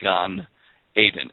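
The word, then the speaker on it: גן עדן: the garden of eden is gone and it's pronounced as g-a-h-n gan aiden a-d-e-n and of course there is a gulf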